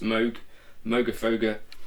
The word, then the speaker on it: Moogerfooger: this is based on i think it's pronounced moog moga foga um however you would say mugafooga is how it's written um the rf uh